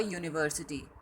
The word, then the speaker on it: university: Next example is sounds like you, a university, hard h, a house.